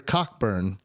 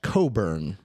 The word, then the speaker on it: Cockburn: goes oh you're a cockburn and cockburn says it goes oh it's actually pronounced coburn even though it's spelled cockburn so barney captured on